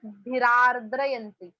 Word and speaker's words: भिरार्द्रयन्ति: See here the pronunciation is भिरार्द्रयन्ति. भिरार्द्रयन्ति. वृष्टिभिरार्द्रयन्ति. Double r are there. र भी है और रफार भी है. So रार्द्रयन्ति.